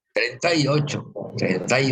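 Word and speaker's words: treinta: Trintai Ocho. Jadi I-nya juga lembut aja, nggak usah jelas-jelas banget ya.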